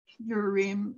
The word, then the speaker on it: Urim: I think in Hebrew, they pronounce that instrument Urim and Thumim, and those are both plural words.